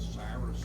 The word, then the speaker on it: Cyrus: So they translated it C Y R U S and then we pronounce it the way we like to pronounce those letters which is Cyrus but in his time he was called Kurush.